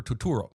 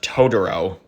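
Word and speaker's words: Totoro: bus from my neighbor tuturo why are you pronouncing his name like that it's pronounced todoro today on a very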